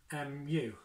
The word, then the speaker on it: mu: it looks like a little u and it's pronounced mu mu and that's that's the greek so the